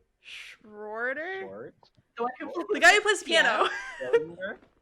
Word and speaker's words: Schroeder: the name though no it's schroeder it's like it's spelled really it's spelled s-c-h-r-o-e-d-e-r stronger schroeder yeah it's not schrodinger no i knew it was